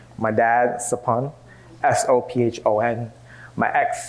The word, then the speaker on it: Sophon: There's a lot of other Cambodian folks with the same SOPH prefix, like my dad, Sapun, SOPHON. my ex, Saphi, S-O-P-H-Y, and my best friend, Sapit, S-O-P-H-E-A-K. My name is pronounced!